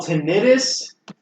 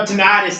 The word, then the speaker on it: tinnitus: He's got that thing I think you call tinnitus. No, tinnitus. That's how you say it in common. Actually, both pronunciations are correct.